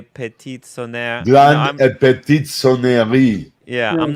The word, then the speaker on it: sonnerie: Grande et petite sonnerie. Yeah, No, I'm not just good at that. sonnerie. I just know minute Sonnerie. repeater. You don't pronounce the E, actually.